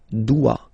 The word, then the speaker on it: dois: Okay, remember final S is not pronounced. Je dois. OE, when you combine the two, you get the sound wa wa wa.